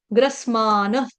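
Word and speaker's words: ग्रसमानः: से के बाद आ जाएगा आघात। से के ऊपर आघात आएगा आधे ग का, गमले वाले ग का। ग्रसमान।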